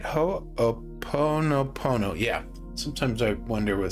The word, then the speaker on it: Ho'oponopono: As I got back into my body, I was impressed to pray Ho'oponopono.